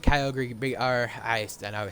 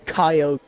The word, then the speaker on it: Kyogre: Yeah, as a Pokemon expert, it's pronounced Kyogre.